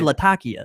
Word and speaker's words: Latakia: And and it actually, you know, most people over there are going to uh you know, refer to it more as Latakia. Uh that's kind of the pronunciation. That's the correct pronunciation. It it's Well, I'm I'm butchering it in my southern brow, but yeah, they say Latakia.